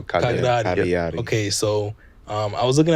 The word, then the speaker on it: Cagliari: The GL is silent, so Cagliari.